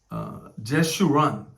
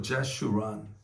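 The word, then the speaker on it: Jeshurun: 제슈란, 영어로 제슈란 이라고 그러죠. 제슈란. 히브리 말도 발음 같으니까 이렇게 했겠죠. 제슈란.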